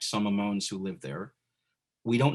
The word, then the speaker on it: Amon: And ultimately, again, that name is just Hamon with the hey in Hebrew. But in the Sephardic pronunciation, that hey would have remained silent, so it would be pronounced Amon anyway.